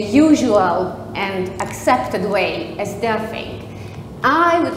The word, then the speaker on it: Duffing: And so I would like you, if you start pronouncing his name in a proper way as Duffing and referring to the Duffing equation.